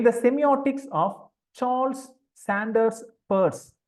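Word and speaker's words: Peirce: key notion in the semiotics of Charles Sanders Pur p i c but is pronounced Pur option A signifier B uh it should be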